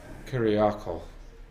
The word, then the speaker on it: Kyriakos: Or Kyriako. I actually asked him about that. The S at the end of his full name is silent.